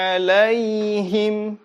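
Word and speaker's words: عليهم: akey like alaihim kita ulang lagi vokal tanda bacanya harus tepat ya Sworo pun ladzina an'amta alaihim Oke kemudian setelah vokalnya kita harus melihat hukum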